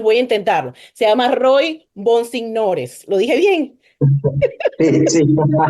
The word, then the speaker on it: Roy Bonsignores: Mira, lo más difícil del podcast es pronunciar el nombre de este joven, entonces voy a intentarlo. Se llama Roy Bonsignores.